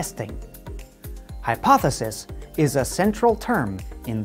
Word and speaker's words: hypothesis: be difficult to pronounce there is one consonant sound that is difficult for speakers of many languages it is the th sound we make the sound by putting our tongue between our lips like this then we